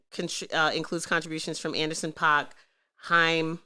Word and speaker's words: Haim: contributions from Anderson Park Haim is how you pronounce on girls names H a I am high more him those chicks George Clinton